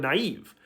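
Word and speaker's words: naïve: that's not the case in the word naive the I naive makes the exact same sound as the i in ski for example that's not a new sound at all in this context this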